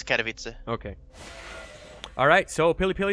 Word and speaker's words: Katowice: always butcher it yeah it's more or less Katowice okay alright so pilly